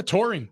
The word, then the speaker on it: taurine: Apparently, they've been testing rats and monkeys and giving them supplements of taurine. Is that how you say it? Yeah, taurine.